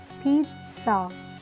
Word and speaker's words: pizza: पिज़्ज़ा, पिज़्ज़ा। सा का sound होता है लास्ट में और बीच में थोड़ा सा ट का भी।